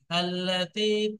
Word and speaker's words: التي: তো এখানে যখন ধরে পড়ছি তো তা লামকে তুল লাতি হয়ে যাচ্ছে, কিন্তু যখন আপনি ছেড়ে দেবেন তখন কিন্তু এখানে আল লাতি পড়তে হবে, ঠিক আছে। التي تطلع على الأفئدة، التي